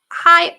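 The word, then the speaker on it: hej: Chewy Suarez in Denmark, we say hi, pronounced exactly the same way as hi.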